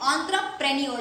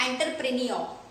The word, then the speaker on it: entrepreneur: Okay, इसका सही pronunciation है गाइस, फिर से सुनिए, ऑन्ट्रप्रेन्योर। इसका मतलब होता है उद्यमी। ओके, इसका खुद का उद्योग होता है, that is ऑन्ट्रप्रेन्योर, नॉट एंटरप्रेन्योर। सही प्रोनाउंसिएशन याद रखिएगा, ऑन्ट्रप्रेन्योर।